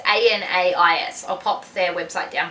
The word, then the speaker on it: Anais: I think it's Aden and Anais. It's Anais.